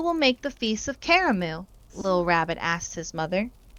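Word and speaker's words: Karamu: the big Feast called caramu that's how you say it caramu this year he wasn't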